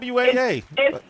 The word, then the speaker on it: Twaa: T-W-A-A. It's Twa. Twaa. Twa. Like undun Twa, 3. Oh, okay. Twa, I love it. Under Twa. Okay. That's in French, by the way, y'all,